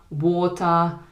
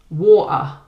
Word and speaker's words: water: This is where you go to pronounce the T sound, but you don't actually finish it with your tongue. So for example, water.